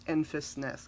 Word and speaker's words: Enfys Nest: It's Enfys Nest. Can we talk about Enfys Nest? You guys. Enfys Nest. Amazing, amazing. I am so angry right now that I did not get the pop of Enfys Nest, and now you can't find it anywhere.